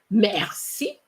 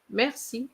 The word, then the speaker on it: merci: For example, the other day I heard somebody saying merci, merci, and I said, oh gosh, merci, merci. You see, I pronounce the R, but not merci.